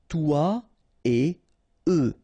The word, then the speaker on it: toi et eux: Toi et eux. Alright, so no liaison, even if it's a bit tempting, because it would be possible, but then no.